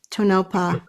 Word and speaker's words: Tonopah: Is my pronouncing it Tonopah, correctly?